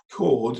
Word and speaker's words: chord: Chord is spelled like that with an H in, and you don't use the H, you just say chord.